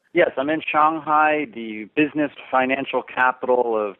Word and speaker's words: Shanghai: Now, you're in Shanghai, as an American would pronounce it, or Shanghai? Yes, I'm in Shanghai, the business financial capital